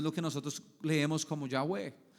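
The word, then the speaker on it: Yahweh: Dios, que se pronuncia Yahweé o que es el sonido de la respiración.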